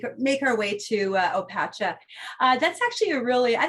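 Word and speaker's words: Opatija: opacha uh i know i was guilty of mispronouncing this one uh the first time i went to croatia i was calling it obatisha but it's not it's opacha although i'm sure um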